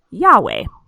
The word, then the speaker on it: Yahweh: we have written here it's y-h-w-h but that's pronounced yahweh what is yahweh do